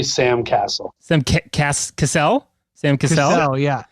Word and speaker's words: Cassell: draft from the past today with the name pronunciation, and it's just the Sam Castle. Sam Castle, Sam Cassell.